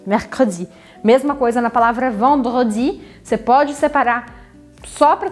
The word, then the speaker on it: vendredi: Então, recapitulando, temos lundi, mardi, mercredi, jeudi, vendredi, samedi, dimanche.